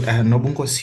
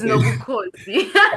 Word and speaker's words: Nobukosi: Hey, Nobunkosi, you butchered. My surname is. Oh, okay. I will remember that. And the funny thing is, you also are pronouncing my name wrong. It's Nobukosi.